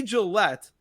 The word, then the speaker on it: Jaillet: Jay Gillette, but it's spelled Jaillet, not as in Gillette the shaving cream.